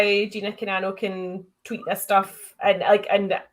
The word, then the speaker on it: Gina Carano: And I remember Gina Carano, how do you pronounce her name? Gina Carano?